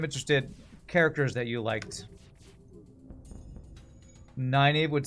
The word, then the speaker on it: Nynaeve: I used to call her Nineveh, but I think it's supposed to be Nynaeve. It's supposed to be how you're supposed to pronounce that. Yeah, Nynaeve's pretty a badass.